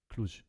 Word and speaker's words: Cluj: The J in Cluj is pronounced like the S in measure. So Cluj. So it's Cluj.